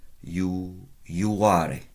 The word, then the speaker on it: iuare: And I said you pronounce that yo, as if you can visualize a Y in front of it. What was the whole verb? There's a V in the middle. Iuare.